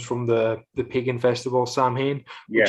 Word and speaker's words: Samhain: the the pagan festival samhain yeah y'all know it isn't actually pronounced like that it's just spelled like that it's actually pronounced sound or something um but um it